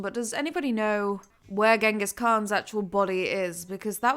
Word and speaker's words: Genghis Khan: if I'm like the bacteria who killed Genghis Khan, Chinggis Khan, I think is how it's supposed to be pronounced, but Genghis is how everybody knows it.